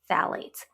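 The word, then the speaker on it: phthalates: The PH is silent, so it's just phalates. ates theates. I always end up saying phalates. I think it is actually pronounced phalates. Whatever phalates, but the ph is silent.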